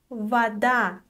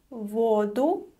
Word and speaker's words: вода: So the stress shifts to a different syllable. Unfortunately, there is no rule for this, you just have to memorize it.